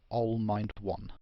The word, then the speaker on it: Allmind1: But the live streaming on the server, by the way, my name is generally pronounced Allmind1.